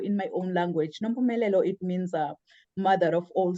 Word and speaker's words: Nompumelelo: and dad gave me this beautiful, beautiful name, Nompumelelo. I know many, when they try to say my name, they always butcher my name, but Nompumelelo in my own language, Nompumelelo, it means mother of all success.